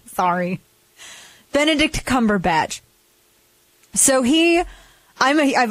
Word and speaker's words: Benedict Cumberbatch: that's what I meant I keep getting his name wrong sorry Benedict Cumberbatch so he I'm a I've always been a